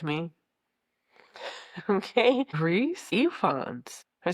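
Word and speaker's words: Rhys Ifans: Reese Ifans. I said Rice Ifan.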